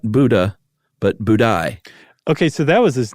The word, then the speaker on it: Budai: 10th century Chinese monk whose name was not Buddha, but Budai.